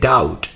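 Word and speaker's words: doubt: में डाउट कहते हैं यहां पर हम बी जो लेटर होगा उसे हम साइलेंट रखेंगे डाउट ठीक है मजबूती को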